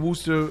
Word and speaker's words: Worcester: How do you say Worcester.